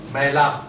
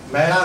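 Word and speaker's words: ਮੈਲੁ: या पीला ये है मैला मैला नहीं कहना मैला मैल मल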